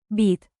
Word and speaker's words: být: Remember the long Y in. být, Stretch it like dramatic theater while sipping coffee very, very seriously.